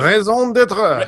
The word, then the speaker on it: raison d'être: I can't pronounce Raison d'etre. Raison d'etre. Thank you. Raison d'être.